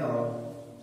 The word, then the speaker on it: hour: Okay, an आवर, एन आवर। The H at the beginning of hour is silent।